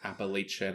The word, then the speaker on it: Appalachia: Sorry for you who say it Appalachian and Appalachia, but as a real Appalachian man myself, we're going to say it correctly this episode.